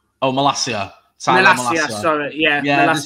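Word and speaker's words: Malacia: I can't pronounce his name. Malakaya. Oh, Malasia.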